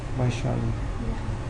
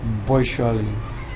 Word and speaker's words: Vaishali: How do you say Vishali? Vaishali. Vaishali. If you're Bengali, you say Vaishali.